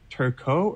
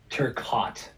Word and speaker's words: Turcotte: in vancouver is is your last name pronounced turco or turcotte turcotte okay do people make that mistake often or am i just that frenchie well no so here's the fun thing i get turquote a lot oh yeah i'm like